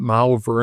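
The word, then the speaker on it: Malvern: So, I said, "Let's drive to Malver. They call it Maliver in England. I shouldn't mispronounce it."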